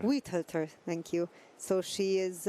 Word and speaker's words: Weihölter: Weihölter. Weihölter, thank you.